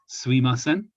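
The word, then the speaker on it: すいません: the word excuse me you normally say sumimasen depending on regions some people shorten this to suimasen which also means i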